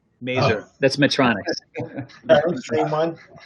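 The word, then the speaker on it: Mazor: We have it's the robot that rhymes with razor. Mazer.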